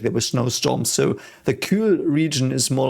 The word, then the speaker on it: kühl: We have perhaps some pronunciation stuff, so it's Kühl. The Ü is this U with the double shits, fly shits on top of it. And the H is silent and makes the Ü longer.